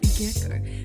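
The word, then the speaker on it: 月光: like a family name, moonlight is more commonly pronounced as Gecko, meaning Gecko Moria and Kazuki Moria are in fact the same name, just read differently.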